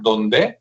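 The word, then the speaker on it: Dondé: Ingeniero que se apellida apellida donde así como donde pero con el acento en la e que está muy bueno.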